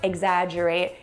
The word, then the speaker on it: exaggerate: Now, I know this is a silly association, but when you pronounce the word "exaggerate," it sounds like you're saying "egg," like the food, but there's no eggs in the spelling of "exaggerate."